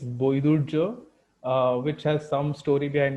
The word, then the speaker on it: Baidurya: It's like the original Bengali pronunciation is Boidurjo, which has some story